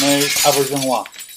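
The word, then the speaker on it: René Auberjonois: It's pronounced Renee Auberjonois.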